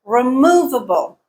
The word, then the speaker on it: removable: not on the fourth here's another example removable removable again stresses on the second syllable not the first not the fourth guiding principle number six